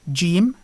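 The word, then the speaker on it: جيم: So the name of the letter is Jim, and the sound it represents is J, as in the English word vision.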